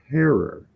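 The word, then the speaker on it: Herer: I was taught the name is hey it's pronounced Terror like Terror not Jack Herrera so Jack Herrera is not the proper way to recognize one of cannabis's Godfathers his last name is pronounced heror and so I made my Jack hair a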